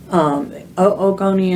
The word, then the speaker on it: oogonia: So prenatally, these follicles will develop, and the primordial germ cells, oogonia, we pronounce the two O's together, oogonia develop into what we call the primary oocytes.